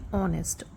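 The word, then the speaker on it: honest: तो यहां पे लिखा है एच ओ एन ई एस टी ऑनेस्ट। ऑनेस्ट में एच साइलेंट होता है और हमारी आवाज मेन साउंड जो है ओ से आती है।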